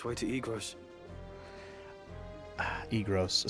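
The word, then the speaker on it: Eagrose: So, in the original version of the game, Egros was spelled I-G-R-O-S. I always pronounced it Egros anyway, so it's funny that when they retranslated it to be very phonetically exactly how it's said.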